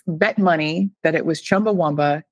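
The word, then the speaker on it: Chumbawamba: I think it has to do with being Americans versus being British people. I would have bet money that it was Chumba Womba.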